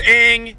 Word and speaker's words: Aang: No, I was saying it because I was saying how they say it in the movie. They say Aang. I know. Anyway, it's Aang, it's Sokka, it's Katara.